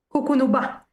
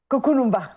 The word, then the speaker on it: Cucunubá: Al contrario, agradecidos nosotros de haber podido conversar, doctora, a ver si lo pronuncio bien, ¿Cucunumba o Cucunumba? Cucunubá. Cucunumba, perfecto, Cucunumba.